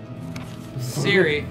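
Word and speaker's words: Ciri: They said, it's not pronounced Siri, it's pronounced Siri. Siri, it's pronounced Siri. What? It's like, it was like barely different, like, it's pronounced Siri, not yeah. Siri. I'm like, okay, thanks. We're not Polish. We're not gonna say it exactly like a Polish person.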